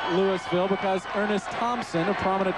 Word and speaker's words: Louisville: Louisville spelled like Louisville, but Southern fans know that it's pronounced Louisville because Ernest Thompson, a prominent running back, hailed from Louisville, Georgia.